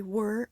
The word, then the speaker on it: were: encuentran la pronunciation they were un poco difficile la a la and were suena agua que las palabras her work assured la is muda es importante no pronunciate were como we're young Casey scribble a